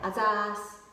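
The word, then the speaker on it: あざす: A-ZAS, A-ZAS, A-ZAS, which is just shorter version of ありがとうございます。ありがとうございます is too long, too formal, so we say A-ZAS, quicker, easier, and more friendly.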